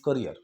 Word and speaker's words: career: कैरियर नहीं, lots of people pronounce it like career. It's not career, it's career.